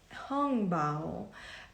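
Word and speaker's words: hongbao: um the one second hung bow uh angb you may hear it as well as a pronunciation it's written as h o n g b a o um you can find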